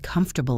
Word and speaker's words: comfortable: Try to say the word comfortable again. Com-for-ta-ble. The middle is a schwa.